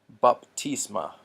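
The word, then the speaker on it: βάπτισμα: A lot of times this is called pi, like pi r square or 3.14. But if we're going to pronounce things consistently, this would be p.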